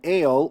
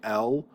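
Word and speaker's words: אֵל: the word for God, we usually say el. The reason why I distinguish here ale is because you got to remember that this is a sere. The word for God, its dictionary form has a sere. And so I say here, note, this is a sere, not a segel.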